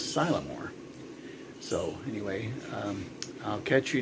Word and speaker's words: Sylamore: I was saying Sylamore, and it's actually, I guess, Sylamore.